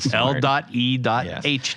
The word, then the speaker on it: L.E.H.: own what I own Le guitars Le guitars or maybe as as you out there have been pronouncing it l guitars but it's not L guitars it's just Le I don't think anybody